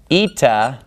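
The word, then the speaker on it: ήτα: remember the next three are gonna be Zita eita and theta now you can probably guess why I like to group these three but it's because they rhyme so if I can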